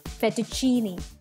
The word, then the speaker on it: fettuccine: and this is how it looks it is pronounced as fettuccine I repeat fettuccine let's move on ahead towards the next one